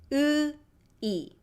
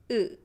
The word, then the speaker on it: 의: See, my lips are not rounded compared to this two. 엄마마마. This two. 오 or 우. My lips are not rounded. 으이. Russian has this sound. 으이. So if you speak Russian, you should be okay with this vowel.